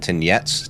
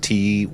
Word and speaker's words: Tyniec: The Abbey at Tyniec, Tyniec.